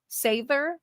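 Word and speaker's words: seiðr: so it's it's sather sather is how it should actually be pronounced got it am I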